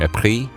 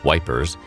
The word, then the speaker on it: Ypres: English soldiers stationed near Ypres, which they mispronounced as Wipers, in Belgium found an